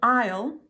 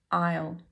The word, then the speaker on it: isle: L an l sound but a dark l sound at the back of the throat at the end Isle ale the second example